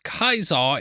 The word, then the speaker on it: Caesar: It's pronounced Kaisar in the game.